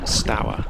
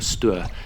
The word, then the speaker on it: Stour: disused raway onto the river Stow or Stu depending on how you pronounce it turning down Downstream in